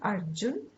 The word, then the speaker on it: Arjun: It's not Arjun.